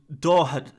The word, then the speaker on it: Doherty: Steve says it's pronounced Dorhad.